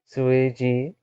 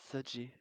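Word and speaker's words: 学姐: X U E J E. It's uh try your best and that's good enough. ZG Z sounds like Z. Yeah. Zi. Okay. Zji.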